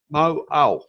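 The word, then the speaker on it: Mauao: Mo'au.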